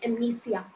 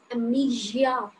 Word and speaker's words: amnesia: This is not amnesia. A little bit your tongue should touch to your backside of your teeth. This is amnesia, gia, not sia.